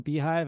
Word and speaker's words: beehiiv: before I introduce myself just want to point out beehive is spelled beeh i i v so if you're going to use that as a code you're going to want to spell it uh the way the company spells their name not the way that uh a bee would spell their hive I guess um so